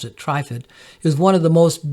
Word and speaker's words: Trifid: tripod nebula also known as mezzie a20 some pronounce it TripIt but I pronounce it trifid is one of the most beautiful deep space